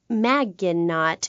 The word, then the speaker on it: Maginot: will be robots Maginot welcome to the show thanks Amy however you have mispronounced my name its which rhymes with badge as in duh and no as in more than you maginot anyway thank you for